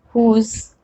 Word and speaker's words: whose: But there are some WH words in which W is silent. And which are these words? Who, whom, whose, whoever. Okay, again, these are WH, but we are not pronouncing W, but instead we are pronouncing H.